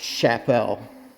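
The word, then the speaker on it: Csepel: brand that was in the same Factory that's pronounced Chapelle and they were made in the same Factory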